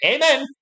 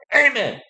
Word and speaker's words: Amen: gets drafted first austin amen and give me amen without the magic be saying the graphics give me an amen i assume it's pronounced like the religious word and number six near